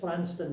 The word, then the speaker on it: Provanston: I says it's pronounced Pranston, but if you look back the early censuses, it said Provanston, but it said in brackets pronounced Pranston.